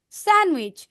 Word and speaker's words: sandwich: okay এটা দেখো ডি লেটারটা সাইলেন্ট থাকবে নির্ঝর D letter should be silent it should be sandwich D letter silent থাকবে